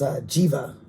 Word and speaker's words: Jiva: So yeah, and that's Jiva is how I was told to pronounce that by someone on the phone the other day.